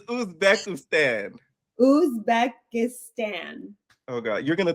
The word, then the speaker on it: Uzbekistan: And no, I remember seeing your YouTube now because you kept saying Uzbekistan. It's a B. It's Uzbekistan. Uzbekistan. Uzbekistan. I'm like, oh my God, this guy is hilarious. Okay, so it's Uzbekistan.